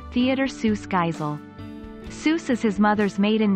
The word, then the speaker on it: Seuss: Seuss is his mother's maiden name, and their family pronounces it as Seuss, rhyming with voice.